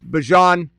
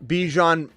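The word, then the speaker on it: Bijan: Lamar Bjon. Bjon. Still saying Bjon. I can't can't shake that. I couldn't say it right for the longest time.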